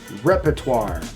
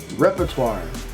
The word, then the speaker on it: repertoire: Next word we have is repertoire. Repertoire. Repertoire.